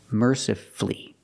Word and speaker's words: mercifully: Master flee beautifully wonderfully we also practice with these words powerfully and mercifully again you have two syllables before f l l y and the stress is on the first syllable so the U is silent power flee merci flee and then we have